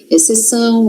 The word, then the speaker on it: exceção: Nesses casos aqui, ó, esse X não tem som. Exceção, excelência. Exceto.